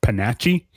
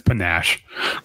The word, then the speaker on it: panache: you get paper has enough I believe it's pronounced Bonacci Bonacci no it's panache okay it means the whole thing essentially is